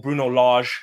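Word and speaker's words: Bruno Lage: squad depth that nuno didn't really like but bruno laga or bruno large that's how you pronounce it he's starting to yes they're quite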